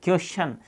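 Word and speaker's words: question: एस आ जाता है तो फिर टी से अपना चे बनेगा। ओके, कैसे, देखिए यहाँ पर देखो क्वेश्चन, यहाँ पर अपन देखो क्वेश्चन, यानी कि देखो QU ये बनेगा क्यू, और एस से और TION से फिर क्या बना चन, सन की जगह छन हो गया क्वेश्चन।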